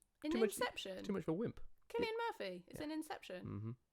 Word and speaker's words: Cillian: Killian? How would you pronounce? You pronounce Killian. Killian, yeah. I'd be interested to know. Cillian does sound weird. Cillian.